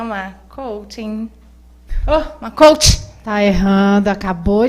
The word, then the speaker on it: coaching: Coaching, coach e coachee. Realmente tem uma sutil diferença na pronúncia, porque um deles é o processo, que é coaching. Então, tem o NG no final. Quem aplica o processo é o coach, sem ING no final.